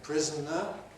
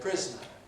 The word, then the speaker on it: prisoner: You can say prisoner, 3 syllables, or you can say prisoner, 2 syllables.